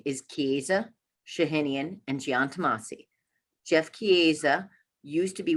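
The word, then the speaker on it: Chiesa Shahinian & Giantomasi: to say csg but the firm name is kiza shahinian and giantamasi jeff kieza used to be with the christie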